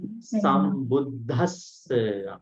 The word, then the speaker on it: sambuddhassa: Can we say Samma Sambuddhas? Samma Sambuddhas. Why is it? There is an aspirant. All right. Namo tassa bhagavato arahato samma sambuddhassa. This is the correct pronunciation.